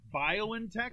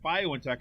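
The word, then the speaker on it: BioNTech: and its german partner violin tech i guess is how you say it bio in tech announced that the initial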